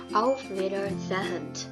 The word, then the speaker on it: auf Wiedersehen: Dan juga jika ada H di tengah-tengah kata, dia tidak dibaca tetapi seperti mengalun saja. Jadi auf Wiedersehen.